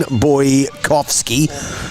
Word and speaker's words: Boykovsky: Hayden Boykovsky, the boy and the Coffs Harbour, that's how you pronounce the surname.